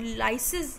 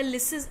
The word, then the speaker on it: lysis: कहीं भी कोई वर्ड लाइसिस या लिसिस ऐसे लिखा आता है, इट is pronounced both the वे, लाइसिस when you take it alone, but electrolysis we से, राइट?